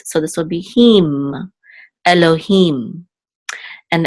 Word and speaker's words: Elohim: this will be him, Elohim. And the accent is on the last syllable, Elohim. Okay, and this is, of course, the Hebrew word for God, or the Almighty.